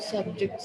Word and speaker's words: subjects: What are your subjects of study? Stress on the first syllable. What are your subjects of study?